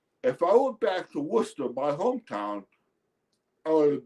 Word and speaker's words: Worcester: It's pron it's pronounced Worcester. It's spelled Wes Ser. It's one of those weird English pronunciations.